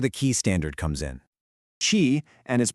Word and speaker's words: Qi: Chi, and is pronouncedqi is the universal standard that lets your phone talk to pretty much any certified charging pad out there.